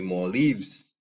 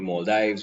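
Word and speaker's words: Maldives: relatively slow languages like the more leaves right only more dives whichever you want to pronounce it these islands can in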